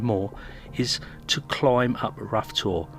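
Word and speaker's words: Rough Tor: is to climb up rough tour pronounced Rota the second highest point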